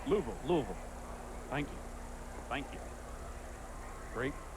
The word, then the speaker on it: Louisville: since his call-up from Louisville Louisville Louisville no actually Louisville you got to take one more syllable out of it it's two syllables Louisville thank you thank you